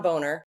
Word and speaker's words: Boehner: John Boner. I'm sorry. He likes to pronounce it Boehner, but it's Boner.